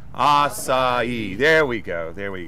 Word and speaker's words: açaí: quick tutorial right so I I completely mispronounce assai is that correct let me hear everybody say it aai there we go there